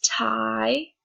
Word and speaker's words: tie: The different examples that I have here for the sounds of letter I is tie, where you can hear the I, and actually in this one, the E is silent.